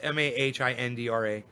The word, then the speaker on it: Mahindra: wastegate pressure it's it's it's spelled just like it's pronounced m-a-h-i-n-d-r-a mahindra okay here they're